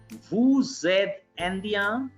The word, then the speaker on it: vous êtes: So S is going to be pronounced as Z.